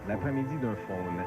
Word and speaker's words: L'après-midi d'un faune: What I loved about it is, like, especially that Debussy, L'après-midi d'un faune, although my pronunciation is terrible. D'un faune. L'après-midi d'un faune.